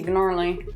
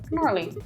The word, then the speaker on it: gnarly: Pretty gnarly. Sorry, what was that word? Gnarly. It's gnarly. Gnarly. No, it's like gnocchi, the G is silent.